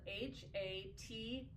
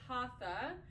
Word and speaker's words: Hatha: It's spelled Hatha. So it looks like Hatha, but it's pronounced Hatha. Hatha. Hatha. The T is on the top of the palate when you say that and you don't pronounce the H, but be that as